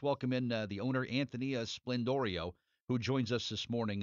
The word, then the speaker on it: Sblendorio: I just said well let me pretend the p is a b and or vice versa and uh that that